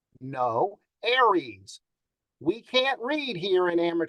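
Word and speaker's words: ARES: now a lot of people might say oh ours no aries we can't read here in radio very well or pronounce things but that's the way it is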